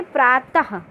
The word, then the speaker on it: प्रातः: इसका उच्चारण हा के जैसे होता है, इसका उच्चारण हा के जैसे होता है। इसका अधिकतर प्रयोग संस्कृत भाषा में किया जाता है। जैसे प्रातः, हा का उच्चारण हुआ, नमः, हा का उच्चारण हुआ ना, ये है हमारे विसर्ग।